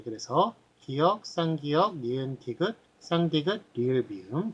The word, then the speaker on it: 쌍기역: 끼역. 끼역이라고 읽는데 그래서 막 옆에 그 유재석이 무식하다고 그렇게 이야기를 한 적이 있습니다. 자, 그렇게 읽는 것이 아니라 앞에 쌍자를 붙입니다.